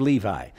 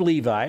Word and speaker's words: Levi: the sons of Levi if you are hebrew we pronounce it levy by the way but these are the names of the sons of Levi now Levi is do